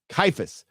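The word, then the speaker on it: Ciaphas: heroic 40K calphus Kane as spelled oh it's pronounced kaifus is the Black Adder of 40K and shows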